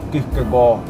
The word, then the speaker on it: Kierkegaard: Nietzsche e Raul Seixas, para mim, dois grandes pensadores referenciais, e Søren Kierkegaard, que se pronuncia Kierkegaard.